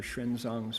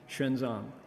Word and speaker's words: Xuanzang: It's the Xu, it's an X, and then an umlaut, Xu Yuan, and then the Zang is just not in English syllables. So Xuanzang, people know him as